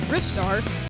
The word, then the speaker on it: Ristar: games like Sonic 3D Blast Sonic R and ristar please don't get mad at me for mispronouncing that I seriously looked that up and